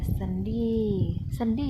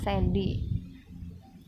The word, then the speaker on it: sendi-sendi: Hai contoh-contohnya selanjutnya ada sendi-sendi ya bacanya bukan Sandy nah Apa sih itu